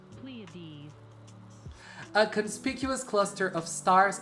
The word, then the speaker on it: Pleiades: Oh, I can hear how it's pronounced. Pleiades.